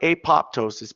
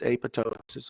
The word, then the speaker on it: apoptosis: a process called apoptosis now it looks like apoptosis but it's apoptosis okay but if you